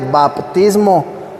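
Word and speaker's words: βαπτισμός: La palabra bautismo es una palabra griega que en griego esta palabra se pronuncia baptismo con P.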